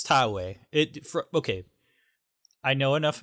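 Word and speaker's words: Taue: oh absolutely not no think about my terrible pronunciation of all like i am i'm guaranteeing that i am saying tallway wrong oh sure i think it's thai way it okay i know enough about japanese pronunciation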